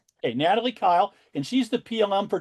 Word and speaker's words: Kile: Natalie, am I pronouncing your last name right? Yes, that's correct. Hey, Natalie Kyle and she's the PLM for track and field